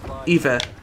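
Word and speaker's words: hiver: winter and Verge winner is Eva h-i-v-e-e-r h-i-v-e-r in French or at least that's how I pronounce it the silent h eBay eBay can't talk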